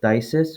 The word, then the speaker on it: phthisis: So the TH sound can be spelled TH or PHTH. For example, phthisis, which is spelled PHTHISIS, or lethargy.